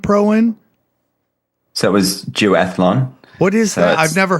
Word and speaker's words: duathlon: So it was duathlon.